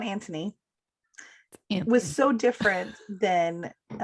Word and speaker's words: Anthony: Like, I'm I gonna make almost sure I wrote it without pronounce the H, Okay. so we'd remember. Okay. So season 1, Anthony Anthony.